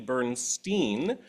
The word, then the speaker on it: Bernstein: that I did um the original pronunciation that most people seem to agree was actually bernsteen which um orally speaking has more overt uh Jewish connotations um and in an